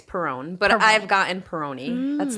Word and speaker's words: Perrone: up in my head every time say it Peroni it okay it's Peron but I've gotten Peroni that's not like a I would botch it